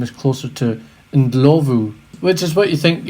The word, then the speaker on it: Ndlovu: was referred to as when in fact the pronunciation of his name is closer to indlovu which is what you think you would go